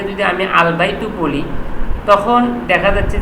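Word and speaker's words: الْبَيْتُ: আলবাই বা যদি আমি আলবাইতু বলি তখন দেখা যাচ্ছে যে কি আল বাইতু লামটাও এখানে উচ্চারণ হচ্ছে সুতরাং এইযে বা হরফটা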